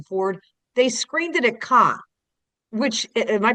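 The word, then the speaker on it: Cannes: did with Harrison Ford, they screened it at Khan, which am I pronouncing that right? I never know. That's it. Khan, they screened it there and they are notoriously the snoodiest film festival ever.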